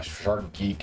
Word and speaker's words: Shark G33K: This this streamer, uh, Shark G33K, uh, Shark Geek is what we do phonetically, um, is a shark conservation advocate and does shark dives with 360 recorded video.